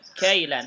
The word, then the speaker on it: كيلا: Tuna kailan, ini kafnya fathah ya, kailan sesuai dengan suara kailan dan mi'atu kailin ya,